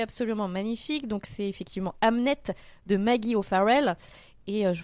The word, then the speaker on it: Hamnet: le tout le sel du roman est là Amnet c'est bien le prénom du fils de William Shakespeare. Donc ça s'écrit H A M N E T.